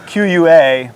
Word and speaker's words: QUA: do they call it I thought it was q-u-a but listening to comica's uh you know internal